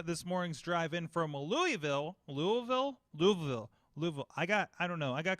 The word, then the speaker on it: Louisville: got i don't know i got called out for saying it wrong on a podcast a couple weeks ago so and i didn't i didn't learn while i was there so it's louis valley louis valley listen i interviewed this